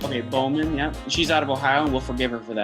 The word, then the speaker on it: Bauman: then i is actually i think bauman right is that how you say it yep yep bowman i think is how she's like okay bowman yeah she's out of